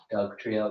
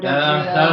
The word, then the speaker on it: Dugtrio: Dugtrio. They spelled it with an I, but sure, I'll pronounce the I with the U.